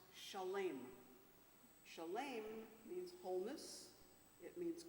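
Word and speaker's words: שלם: The word shalom comes from the root shin lamed mem, which is pronounced shalem.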